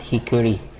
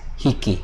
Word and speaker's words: hickey: No, I believe it is much pronounced as hickey. Maybe we just edit this one. No. Okay. Just edit this one. So this is hickey, but not hickory.